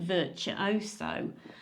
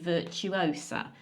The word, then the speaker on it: Virtuosa: okay, is, and this might be a bit shocking, it's MSC Virtuoso. Is that how you say it? Virtuosa. Virtuosa. Okay, I'll start again. My choice is MSC Virtuosa.